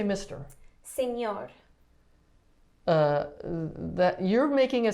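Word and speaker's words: señor: what is that about so it's just where you're going to put the emphasis on the word uh so you're gonna make like the enye sound so you would say senor signor you say it okay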